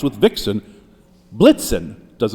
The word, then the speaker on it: Blitzen: Now it's a somewhat weak ending word, but blixen rhymes with vixen. Blitzen does not.